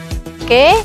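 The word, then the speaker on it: を: Walaupun tulisannya huruf wo, tapi ketika dia sudah berfungsi sebagai partikel yang menghubungkan objek dengan predikat, itu dibacanya o.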